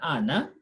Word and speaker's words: Anne: Here at the end is silent, just like the word Anne. Anne with E without E pronounced the same as Anne.